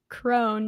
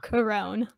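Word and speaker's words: Krone: never said it wrong it's crone not corone damn it um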